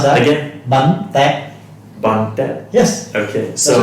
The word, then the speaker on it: Bánh tét: Bánh tét. long. Okay. Alright, can you try to pronounce that? Again? Bánh tét. Bun Tet.